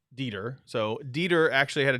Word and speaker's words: Dieter: Dieter.